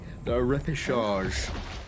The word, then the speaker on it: repechage: finding yourself in that lower bracket, in the repechage, as it's called, which I also looked up. Is that how you pronounce it?